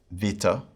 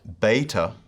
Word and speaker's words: beta: capital b in english the erasmus pronunciation is like a hard b sound as in bat ba bat according to the modern pronunciation this is more of a soft sound like v in vat v and so we can pronounce the name of this letter differently either as beta or as vita a next letter is